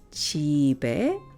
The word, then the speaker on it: 집에: 핸드폰은 집에, which will be pronounced 집에 있어요.